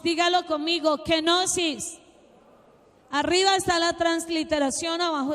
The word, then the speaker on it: kenosis: Es una palabra griega que se lee kenosis. Dígalo conmigo, kenosis.